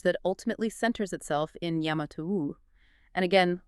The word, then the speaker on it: Yamato: This is the origin of the lineage that ultimately centers itself in Yamatou. And again let us emphasize the precise ancient pronunciation here. Yamato.